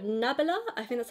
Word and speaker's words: Nabla: like so this is from a brand called nabala i think that's how you say it nabla yeah nabla and this is the viper lip plumping lip